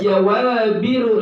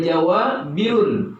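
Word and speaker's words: جوابر: Jawabiru, bacanya jawabiru, nggak boleh jawabirun. Kenapa? Karena isim ghairu munsharif, wazannya mafailu, namanya sigat muntahal jumu kalau kita belajar ilmu nahwu.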